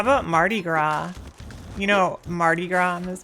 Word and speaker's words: Mardi Gras: Oh, how about Mardi Gras? You know Mardi Gras, Miss Dan? How about the S on the end of that one. Yeah, you don't pronounce it.